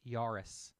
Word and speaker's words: Jahres: des jahres yes it's Yaris so you do pronounce this the J is pronounced as a y in German she something Joris she's